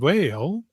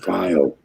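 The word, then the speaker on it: Weil: affordable realm is Raymond Vale. One of these next week the the actual pronunciation is vio.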